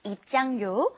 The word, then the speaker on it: 입장료: It's kind of hard to pronounce because your tongue's kind of moving around in your mouth. It's 입장료 and then 대여료.